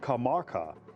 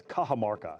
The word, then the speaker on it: Cajamarca: Next toss up question what conquistador who is presented with ransom rooms after the Battle of Kamaka, imprisoned at two Walpole in 1532 while invading the Inca Empire. That's Cajamarca, battle of Cajamarca.